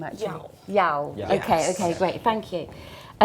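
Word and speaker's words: Yaw: Just on your, how do we pronounce his name actually? Yao.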